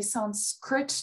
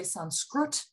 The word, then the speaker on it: Sanskrit: example um you know in the north you'd say sanskrit in the south you would probably will say sanskrut or something like that so you know there's